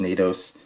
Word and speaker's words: N8OS: This particular model is the N8OS, or pronounced NATOs, with the the brushed hardware and then black nylon.